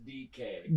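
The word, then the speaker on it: Dike: I believe it's pronounced DK. Doesn't matter. How is it spelled? I saw someone like phonetically spell it online and it was like D E K A Y.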